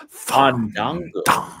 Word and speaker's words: Fandango: No, you have to say it right. Fandango.